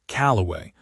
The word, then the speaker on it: Calloway: She said it back, Calloway, with the accent on the second syllable, in a way nobody had ever said it before.